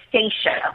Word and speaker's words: Stacia: thanks for having me it's actually staa with an A so I know it's kind of weird people you know mess up my name all the time but it's it's staa it's spelled St a c a but yeah kind of short like Anastasia but U I'm not